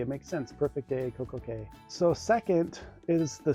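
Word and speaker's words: CocoCay: Well, first, in the Perfect Day song that Royal Caribbean plays, it's pronounced Coco Cay. It rhymes with day. It makes sense. Perfect Day, Coco Cay.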